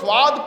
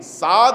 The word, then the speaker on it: صاد: ہا یا عین صاد، بعض لوگ یہ صاد کے تلفظ میں غلطی کر جاتے ہیں، صاد کو سواد پڑھتے ہیں، صاد ہے، تلفظ صحیح ہونا چاہیے۔ کاف ہا یا کو